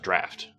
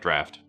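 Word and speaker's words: draught: I believe it's I don't like I know it's spelled drought, but I'm like I've heard it pronounced draft.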